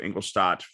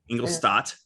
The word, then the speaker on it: Ingolstadt: Ingolstadt. Stop. Like a stop sign. Okay. No. But no P. T at the end. No P. Okay. It's STADT. So I'm pronouncing it like STAT though.